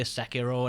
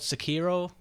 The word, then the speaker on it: Sekiro: fan of uh i call it i'm gonna mispronounce this i know you say sakiro and i know that's the right pronunciation but for some reason i always call it sakiro and i learned a little bit of japanese